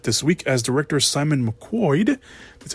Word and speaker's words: McQuoid: a big step this week as director simon mcquoid that's how pronounced last name we'll be coming back to direct mortal kombat 2.